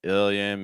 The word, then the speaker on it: billion: as well so Bill make sure you're not saying bill is Bell short I sound with the dark out so again ill so